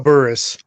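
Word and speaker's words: Burress: mean I'm not a Giants fan it's plexco Burris okay but I'm not a dying fan I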